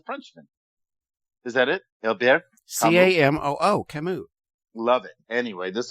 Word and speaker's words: Camus: No, I didn't know either until I heard a really smart person say Camus. You heard a really dumb girl say Camus. But you're right. It is Camus.